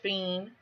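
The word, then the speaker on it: féin: Old Irish, fiend, like fiend, Fiend, fiend, but it's spelled Fein.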